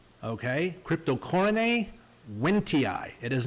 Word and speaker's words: Cryptocoryne wendtii: I've seen people say wendtii, all kinds of ridiculous pronunciations for the special name of this plant. So here goes. Cryptocoryne wendtii. Okay? Cryptocoryne wendtii.